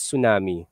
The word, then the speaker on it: tsunami: Actually, it's pronounced as tsunami. As a Japanese word.